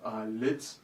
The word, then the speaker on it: YLIGT: So therefore, Favor and I came up with YLIGT, pronounced as lit, because we're youth, lighting up things.